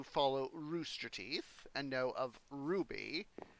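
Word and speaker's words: RWBY: roosterteeth and know of Ruby are waby but pronounced like the gem the series creator monty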